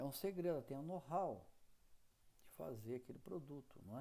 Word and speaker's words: know-how: as expressões de propaganda e aí quem está com o slide está lá, Knov, pronuncia know-how, escreve Knowhow, então Knov, mas pronuncia know-how.